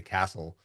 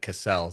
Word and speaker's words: Casel: And by the way, thanks for pronouncing my last name correctly, Castle. Yeah, yeah, I actually Like looked everyone in looked my up. life has always said Cassell, so that's good.